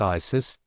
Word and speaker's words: Isis: It is the mantra of the Isiac mysteries, pronounced Isis, divided into 2 syllables, Is, Is. The S is like a sweet and affable whistle.